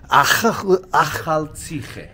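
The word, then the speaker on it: Akhaltsikhe: And it's very easy to pronounce. It's Akhal Tsikhe.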